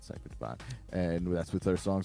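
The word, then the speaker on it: Cphr Dvn: Kentucky with Cipher Divine spelled without any vowels that's c p HR dvn I'm assuming it's no no they say it's called Cy Divine and that's with our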